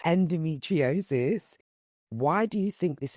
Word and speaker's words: endometriosis: So obviously I know a lot of women are being diagnosed with peacocks, fibroids and edometriosis. Did I say it right? Endometriosis. Endometriosis.